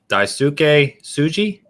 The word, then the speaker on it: Daisuke Tsuji: I don't know how to pronounce his name. Is it Daisuke Tsuji as Jin from Ghost of Tsushima?